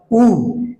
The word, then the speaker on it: who: এটা বলা দরকার ছিল, সেটা হচ্ছে হু কিন্তু উচ্চারণ হু নয়, উ, এইটা সাইলেন্ট হবে।